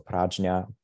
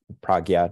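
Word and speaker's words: prajñā: And that's done by means of insight practices, practices for cultivating our mental function of discerning intelligence, or prajna, pragya, depending on which Sanskrit pronunciation system we use.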